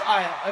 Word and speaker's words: Aiah: SO THIS AIAH.